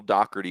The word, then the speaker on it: Doherty: I think it's it is, but it is Doherty.